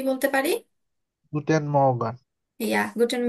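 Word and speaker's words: Morgen: দেখা হয় সেক্ষেত্রে আমরা কি বলতে পারি গুটেন মর্গান ইয়া গুটেন মগেন মগেন নেটিভরা কিন্তু এভাবেই উচ্চারণ করে মগেন মগেন ইয়া এভাবে তারপর মানে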